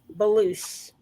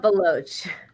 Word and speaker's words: Baloch: and next i'm going to bring up baloosh and correct me if i mispronounced your name did i do that yeah baloch nina that's easy believe it or not